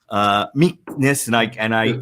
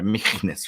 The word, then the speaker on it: Michnus: these two guys, okay, Michnus and I'm trying to pronounce it. It's got like a German little thing in there, Michnus, right? You have to further German.